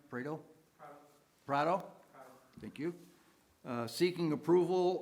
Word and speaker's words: Prado: The first case is RZ 24-2-8-1, a request of Rafael Prado. Am I pronouncing that right? Prado?